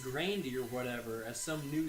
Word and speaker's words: Grande: I know that she does pronounce it Grandy. She pronounces it Grande.